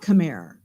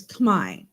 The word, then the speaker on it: Khmer: It's actually not Khmer. It's Khmer. But the French kind of probably wrote Khmer with an ER because it's like a French pronunciation thing where you don't actually say the ER on the end or something.